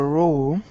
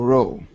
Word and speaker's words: row: There was a row among the horsemen about how to row. Do they have the same pronunciation? No. The first one has an ow sound, and the second one has an o sound.